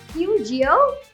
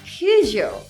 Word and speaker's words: Peugeot: Pew-geo? No, it should be poo-jsho instead.